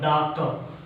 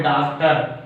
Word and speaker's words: doctor: Some disyllabic words with a silent R. R is silent.